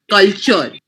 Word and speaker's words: culture: So chores, culture. Here we are focusing on the T ka pronunciation in culture.